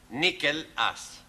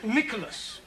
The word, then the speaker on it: Nicholas: Once upon a time, there was a man called Nickel Ass. It's not quite right. No? No. Once upon a time, there was a woman called Nickel Ass. It's pronounced Nicholas.